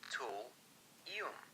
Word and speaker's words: thulium: Let's say thulium is pronounced as tool-ium, and try to work a tool into the story.